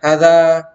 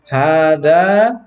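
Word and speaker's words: هذا: Ibig sabihin dito may nakatagong alif dyan. Kaya binibigkas ito ng mahaba. So, hindi ito binibigkas ng hada, hindi. Kailangan hada tabibun.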